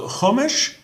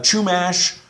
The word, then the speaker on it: Chumash: And also, the Chumash, that Cha, some people have a difficult time with it because it pops up a lot in Hebrew. There's the Chumash, there's the Tanakh. Try your best. Sometimes you can't get that, popcorn stuck at the back of your throat.